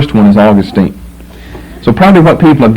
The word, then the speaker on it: Augustine: I going to do I call them both Augustine since that's the dictionary pronunciation of both but I just will